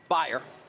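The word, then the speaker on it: Bayer: the worst deals ever buyer the German ba ye are that's how we pronounce it not like the aspirin of course they purchased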